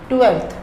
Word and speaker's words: twelfth: 12th TWELFTH, एफ का कोई लेना देना नहीं है 12th से, लेकिन फिर भी इसमें एफ है जो कि साइलेंट है। 12th, I study in 12th class.